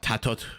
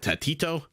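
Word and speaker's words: TaToH: tato's name differently uh mem pronounces it tatot with a T at the end and uh oh one more okay ECC I'm going Beastmaster at T90 pronounces it tatito everyone pronounces it differently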